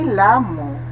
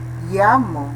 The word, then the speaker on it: llamo: Aqui não é lamo, né? Llamo, me llamo, certo? A pronúncia aqui é vocálica. Vamos supor que seja assim, esta sílaba 2 L's, a pronúncia ya, me llamo, ok?